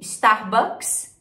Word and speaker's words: Starbucks: inglês Sprite Sprite e Starbucks a principal diferença é o r né que a gente fala estar e eles falam Store Storm ou somente e Red Bull é